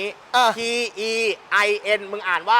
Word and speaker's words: Tein: เทียน อ่ะ งั้น กู ถาม แบบ นี้ เออ t e i n มึง อ่าน ว่า ที่ เรา จะ อะ เทียน